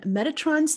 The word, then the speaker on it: Metatron: we're going to start with his name and metatron's name has means one who guards or one who serves behind god's throne it's pronounced metatron just in case there's any confusion